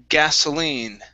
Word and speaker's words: gasoline: Next up is word gasoline. Right here. So instead of saying gasoline, okay, this is an unvoiced S.